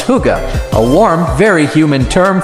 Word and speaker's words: hygge: Finally, the Danes have given the world the concept of hygge, pronounced hygge, a warm, very human term for time spent